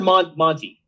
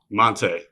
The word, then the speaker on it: Monté: Hey, Mont or Monty? Monte. Tay is fine, but Monte is the correct pronunciation.